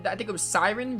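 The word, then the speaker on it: Seiren: i think it was siren right it's pronounced like a siren the the deadly song mermaids siren isle of siren i'll try to remember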